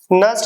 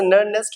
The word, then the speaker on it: Nernst: अपला अपला nurse केशन नस्ट equation य प अन silent होता है ठीक है वैसे नेस्ट होना चाहिए बट बोलते नस्ट इक्वेशन नस्ट इक्वेशन होता